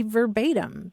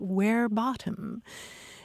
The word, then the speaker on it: verbatim: then we shouldn't be talking about quoting somebody verbatim because in Latin it's where bottom and we shouldn't be